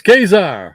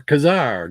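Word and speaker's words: Ka-Zar: Where's Kazar or Kazar, depending on where you are and how you say it.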